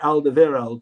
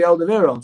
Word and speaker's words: Alderweireld: will say his name a lot of people call toby aldeviro toby alda viral but if you watch toby aldeviere i'll say his name he says toby alderweireld so i don't know why he'd call him toby alda viral because he he doesn't say it that way we had the situation